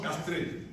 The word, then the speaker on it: chastré: Parce qu'on écrit chastré et puis on prononce castré.